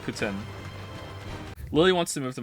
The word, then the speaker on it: poutine: good but it's not pretend some people say poutine I said poutine for a long time sometimes I still do say poutine but apparently it's actually pronounced Putin Lily wants to move to Montreal and I'm